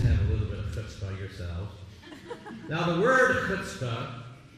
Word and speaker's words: chutzpah: You got to pronounce it the right way. Some people say chutzpah, but no, it's chutzpah. Can we say that? Let's get it real deep down in your throat.